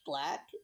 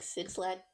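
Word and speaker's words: 6LACK: So I believe it's pronounced Black, the artist names, but like it's spelled like with the 6 instead of a B. Mm-hmm. But I think it's still Black. Cause I don't like 6 Lack sounds kind of weird.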